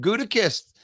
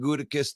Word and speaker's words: Gutekunst: There's a K-U-N-T in there. It's got to be Kunst.